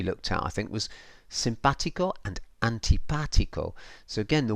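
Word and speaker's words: simpático: sound of the vowel, in Spanish it's all about emphasis and stress. So this is telling me, so if we look at the word simpatico, it's telling me that that A is the vowel that you stress or you say most strongly.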